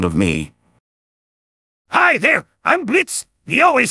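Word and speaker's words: Blitzø: him in front of me hi there i'm blitz theo is silent and i'm the founder of are you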